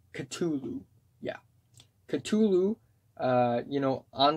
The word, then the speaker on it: Cthulhu: the apple ends off with the Call of Cthulhu Cthulhu yeah Cthulhu you know on the track it's on the track title it's spelled que tu Lu but it's actually spelled